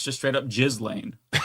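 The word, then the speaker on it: Ghislaine: No, it's you got to emphasize the jizz. Um that's just how it's pronounced. It's British.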